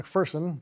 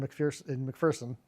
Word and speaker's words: McPherson: Actually, McPherson. There's no fear in McPherson, if you want to make sure you pronounce his name correctly.